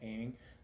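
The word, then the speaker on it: Oeming: I think he pronounced his last name Aiming.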